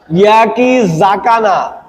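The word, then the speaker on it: 焼き魚: ইয়াকি জাকানা, জেড এ, যা উচ্চারণ হবে, যা, সা হবে না।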